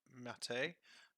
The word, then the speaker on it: MATE: Now, the Linux community insists that this is pronounced Mate. However, I don't see an accent above the E, so I will refer to it as Mate.